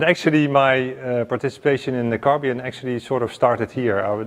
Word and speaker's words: Carbyon: I work for Carbyon, that's how we pronounce it.